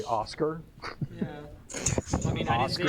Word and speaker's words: Aoskar: It's Aoskar is how you spell it. Aoskar. I'm just going to say Oscar.